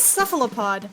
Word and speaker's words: Cephalopod: It is Cephalopod, like the squid, if you can imagine.